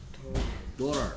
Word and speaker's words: daughter: 다음 계속해서 daughter. daughter. 오케이. 그래서 스펠링 주의하셔야 되고요. 여기에 보면 daughter 쓸 때 이렇게 쓰는데요. 여기에 au가 붙어 있으면 오 소리 냅니다. gh 소리 안 날 때 많고요.